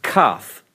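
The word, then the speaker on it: כ: letter, in the Kaf, it gives it a hard sound, more like a K, a Kaf. When you see the letter without the dagesh, it's pronounced more of that guttural sound, ch, ch. So it's a K. This is more of a CH.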